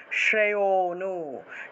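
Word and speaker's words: শ্রেয়োঽনু: শ্রে হনু আছে না এটা হনু হবে না। উচ্চারণ হবে শ্রেয়নু শ্রেয়নু অর্থাৎ ওতে গিয়ে একটু টান দিতে হবে।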